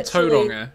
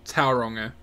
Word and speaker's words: Tauranga: And like tauranga and not tauranga.